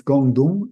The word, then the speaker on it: Gonggong: I tend to say Gongggonng. It's not how it's pronounced it's Guangdong in Chinese.